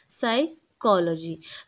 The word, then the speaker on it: psychology: है ठीक है ना यानी ये सी एच है ठीक है ना मैं इसको क की साउंड पढ़ा है क साइकोलॉजी तो ये क्या है डायग्राफ है सी और एच मिलके काफ की साउंड प्रोनाउंस कर रहे हैं तो यह